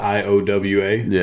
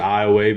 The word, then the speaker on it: Iowa: ia uh it's spelled IO wa it's a lot of big confusion for a lot of people right we pronounce it iway because we're south of I 10 yeah so if you